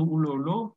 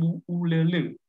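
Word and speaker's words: Bu'ulolo: Bacanya sebenarnya bukan Bu Ululu, tapi Bu Ulele.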